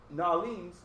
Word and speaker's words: New Orleans: mexic due to mexicans new orleans pronounced nahlins dallas most of brooklyn